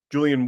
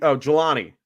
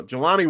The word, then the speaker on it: Jelani: Julian Woods, or I know I butchered his name, but I think Jelani. Sorry, there we go. Jelani Woods.